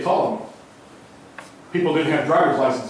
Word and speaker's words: Ptolemy: The P is silent. And you say Ptolemy.